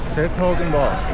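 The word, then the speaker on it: 's-Hertogenbosch: I've been wondering how to pronounce that. s-Hertogenbosch. s-Hertogenbosch.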